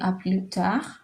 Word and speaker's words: à plus tard: I don't want you to forget the R, okay? So you can say à plus tard. I have placed this RH so you don't forget how to pronounce the RH.